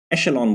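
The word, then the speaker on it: echelon: अगला जो वर्ड है हमारे पास वो है, इसको बोलते हैं शेलॉन। एशेलॉन बोलते हैं इस वर्ड को। इसका जो प्रोनाउंसिएशन होता है उसको बोलते हैं एशेलॉन। आप गूगल करना है इस वर्ड को तो उसमें बताता है एशेलॉन बोलते हैं इसका प्रोनाउंसिएशन।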